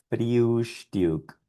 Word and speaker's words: Frühstück: Y esto es Frühstück, Frühstück. Bien, todo lo que hicimos fue pronunciar estas palabras con estos sonidos aproximados, parecidos.